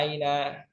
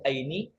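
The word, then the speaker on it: أين: Selamanya dibaca aina, nggak boleh aini.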